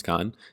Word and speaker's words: Khan: Some people were nice enough to tell me that it's not pronounced Kane, it's Khan.